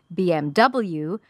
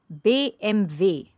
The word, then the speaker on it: BMW: english-speaking countries we say BMW but in german-speaking countries the first two letters are the same but the last letter is different so this is how you pronounce it in German ready B MV b MV there you